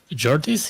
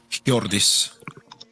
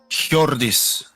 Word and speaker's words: Hjordis: Jordis, is that how you pronounce it, by the way? Or do you pronounce the H as well? Hjordis. Like a Vim pronunciation guide. Hjordis.